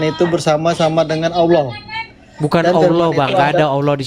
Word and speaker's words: Allah: Bukan Allah, Bang.